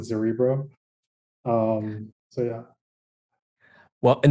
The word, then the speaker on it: Zerebro: that right uh so it's like cerebro so that's kind of how you pronounce it zerbo um so yeah well